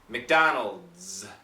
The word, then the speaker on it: McDonald's: that vibrated Z McDonald McDonald's so we start at the D D D D D and go right to a a z sound so what happens is